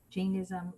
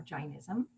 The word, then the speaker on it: Jainism: the chain tradition and you can pronounce that Jainism or Jainism um so to begin